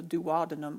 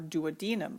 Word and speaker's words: duodenum: small intestine we call the duodenum or duodenum either wait you can pronounce it either way the stomach is somewhat